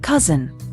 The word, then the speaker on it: cozen: Cousin rhymes with dozen.